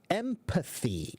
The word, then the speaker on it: empathy: What is the difference in pronunciation between empathy and embassy? Oh, so pitch and bitch. So Nala, empathy, empathy, embassy, embassy. Okay, so you have to get the TH sound, and then you'll be fine.